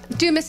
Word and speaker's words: Dumas: Am I pronouncing that correctly, or Yes. is it Dumas? Dumas is how we say it.